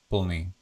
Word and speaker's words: plný: So full, PL, or plný. Plný actually means full, plný, pull. And again, I can show, it's like pronounced as pl, the schwa, plný.